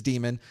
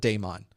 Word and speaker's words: daemon: It really is daemon. It's also absolutely, completely acceptable to call it daemon.